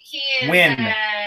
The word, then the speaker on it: Nguyen: The spelling's not right. It's N-G-U-Y-E-N. Win.